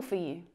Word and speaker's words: for: Four is usually unstressed, and again, it's that vowel sound that reduces to the schwa.